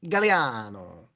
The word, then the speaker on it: Gagliano: My last name is Gagliano, Gagliano, but it's actually pronounced Galliano.